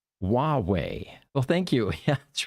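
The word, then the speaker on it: Huawei: joining us from YouTube he says H is pronounced hwei well thank you yeah that's right Hua W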